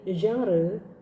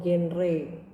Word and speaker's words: genre: Nah, pada pertemuan kali ini saya mau bahas tentang apa-apa saja jenis dari genre atau genre. Kalian mungkin lebih kenal dengan istilah genre daripada genre ya, tapi itu sebenarnya cara bacanya aja.